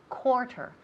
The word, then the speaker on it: quarter: to say a quarter quarter the first syllable sounds like an oh cassie a quarter instead